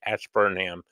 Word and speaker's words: Ashburnham: Ash Burnham Betty Joe I said it right Ash Burnham I was calling it all sorts of other